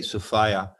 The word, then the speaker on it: Sophia: sophia which means wisdom i say sophia rhymes with desire okay i like that